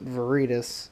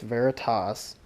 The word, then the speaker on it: Veritas: veritas as i just learned I've always called viridis but I just learned on a booze website it's actually pronounced veritas so I've got to get over calling it